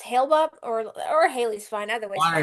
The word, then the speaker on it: Hale-Bop: Halibop, say hi.